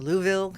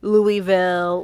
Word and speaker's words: Louisville: Um she originally grew up in Louisville, Kentucky.